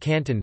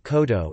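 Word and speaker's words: 広東: Examples include: notes, Guangzhou, the city, is pronounced Koshu, while Guangdong, its province, is pronounced Canton, not Kodo, in this case, opting for a tu on reading rather than the usual kan on reading.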